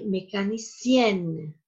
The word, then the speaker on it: mécanicienne: Jadi pengucapannya berbeda untuk bentuk maskulin dan feminin. Untuk bentuk maskulin, il est mécanicien. Untuk feminin ada penekanannya. Elle est mécanicienne.